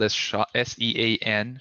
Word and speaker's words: Sean: way to reach you my name is spelled s-e-a-n sean and then my surname